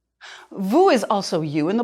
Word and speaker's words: vous: want to show respect it's pronounced with the uh sound as in vu is also you in